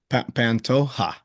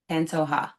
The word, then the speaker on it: Pantoja: instead of pronouncing it with a J, just pronounce it as if it was an H. How about that? Okay. Say it one more time. Pantoja. Pantoja.